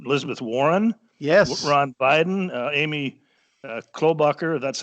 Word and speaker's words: Klobuchar: And Elizabeth Warren, Ron Biden, Amy Klobuchar, that's how you pronounce his name, and I don't know, some congressmen who are actually pretty good Democrats in a lot of ways.